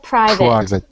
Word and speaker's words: private: one uh private private it's actually pronounced like privit it sounds like private private good private good